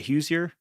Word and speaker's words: Hoosier: Hoosier.